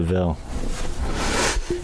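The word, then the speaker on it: De Vil: devil and he's like it's not pronounced devil is prone to ville yeah and you know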